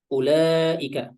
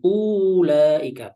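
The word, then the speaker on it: أولئك: ya diterangkan di sini wau sesudah huruf hamzah di awal kata itu tidak dibaca hamsnya Dibaca dan langsung disusul dengan lamnya ya Sehingga cara bacanya Ya ulaika bukan ulika bukan ya tapi ulaika langsung setelah u langsung ke lamnya ulu bukan Ulu Uli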